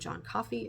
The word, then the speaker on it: Coffey: And there's this one man that gets arrested named John Coffey, like the drink, only not spelled the same.